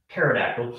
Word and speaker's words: pterodactyl: Pterodactyl flies. Of course, you know why you can't hear a pterodactyl go to the bathroom. Pee is silent.